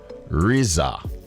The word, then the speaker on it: RZA: How to pronounce Rihanna's son's name? Riza.